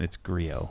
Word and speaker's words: Griot: Whatever you're saying, it's Griot.